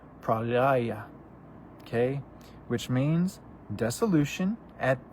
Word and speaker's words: Pralaya: In Hindu, is pronounced Pralaya. Pralaya.